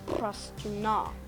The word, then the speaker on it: Prastuna: For this language, I'm just going to make stress on the last syllable, so it'll be Prastuna.